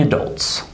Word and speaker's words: adults: So notice here in this second word where the stress is. Listen again. Adults, adults. It's obviously in the second syllable, right? Adults, adults. So this first syllable here, this A at the beginning, is not pronounced normally. It's reduced because it's unstressed. So instead of saying adults, we say adults. This sound is what we call the schwa sound.